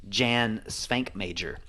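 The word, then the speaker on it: Švankmajer: the Czech Republic, except I used to think his name was Jan Svankmajer because the J's are pronounced Jan. Yeah.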